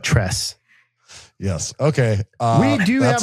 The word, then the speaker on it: Tres: So yeah, it's Broggi, Biggie, and Trey, but Tress.